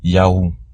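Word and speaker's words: יהוה: Yud, He, Vav, He. Ou qu'on prononce YAUH.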